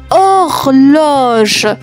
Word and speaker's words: horloge: 27e mot, une horloge. Attention, il y a une lettre muette.